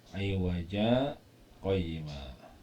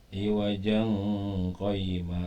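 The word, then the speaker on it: عوجا قيما: Iwaja qayyima. Nggak boleh dibaca ikhfa, jadi nggak boleh dibaca iwajang qayyima, nggak boleh, ya.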